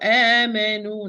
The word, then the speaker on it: آمنوا: Of course, this alif with the circle 0 and this one with the circle 0, it's not pronounced, it's silent always. Continue recitation, stop, it's silent. So amanu, natural mad.